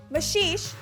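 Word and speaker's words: Maxixe: Mushy Sh, as it's often pronounced in the gem trade, is another blue beryl and essentially a darker version of Aquamarine.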